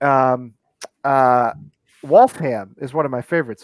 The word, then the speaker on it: Waltham: have like um uh wolfham is one of my favorites so it's w-a-l-t-h-a-m so you'd think it'd be waltham but it's wolf ham you pronounce the ham at the end wolfham so our country's just